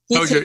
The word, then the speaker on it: Hozier: Hozier, is that how you say it? Hozier? Anyway. Hozier, yeah.